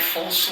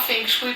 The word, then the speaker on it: Feng Shui: do Feng Shui que na verdade a pronúncia correta é fonu então já deve ter gente aí querendo me corrigir mas a gente fala Feng Shui para ficar até mais acessível né como as pessoas costumam falar é é uma grande